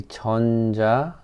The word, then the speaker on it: 전자레인지: We say 전자레인지 or 전자레인지. 전자레인지 or 전자레인지. Either way fine.